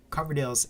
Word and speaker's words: Coverdale: to myself here but Coverdale is my actual last name and um I like even in real life people still they read my name and they still pronounce it as cloverdale's happens all the time I'm like where are you getting that L there is no l in that word it's ridiculous potato 176